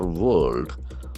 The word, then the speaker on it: world: We can see that the middle R is silent.